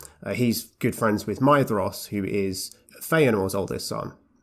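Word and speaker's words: Maedhros: as well is that you don't pronounce the d like a d it's a th yeah i always struggle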